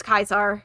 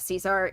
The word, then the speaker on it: Caesar: drilled into my brain so it's kaisar instead of caesar it's uh salway instead